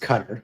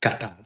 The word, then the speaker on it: Qatar: It's not pronounced Qatar; it's pronounced Qatar.